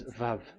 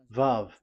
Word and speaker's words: Vav: So the word, the shape Vav is really pronounced V, like Vogue.